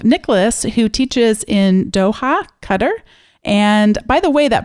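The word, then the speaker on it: Qatar: that actually says that the Arabic for us translates much closer to our word cutter than um than qar which is how many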